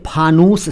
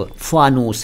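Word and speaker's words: फ़ानूस: था शुरू में जी फानूस है सही उच्चारण फ हिंदी में फ के नीचे नुक्ता उर्दू में फे और अंग्रेजी में एफ फानूस लेकिन बोला गया है फानूस मैंने खूब सुना कई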